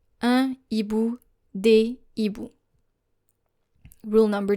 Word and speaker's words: des hiboux: You don't say des hiboux. You say des hiboux. you will need to make sure that the articles and the nouns will be pronounced separately. Un hibou, des hiboux.